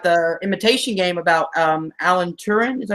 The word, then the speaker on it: Turing: I've got the Imitation Game about Alan Turing. Is that how you say his name? Yep. Yeah, Turing.